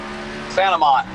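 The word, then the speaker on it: St. Amant: Saint Amant. It's all one word, Saint Amant. Oh, all right, wicked. Yeah, because I got some French Canadian in me, so I'm over here saying Saint Amant.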